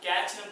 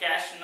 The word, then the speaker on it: cache: ஸோ கேட்ச் மெமரினா அதை எப்படி pronounce பண்ணணும்னா கேட்ச்னு ப்ரொனவுன்ஸ் பண்ண முடியாது, ஜஸ்ட் லைக் கேஷ்னு தான் ப்ரொனவுன்ஸ் பண்ணணும்.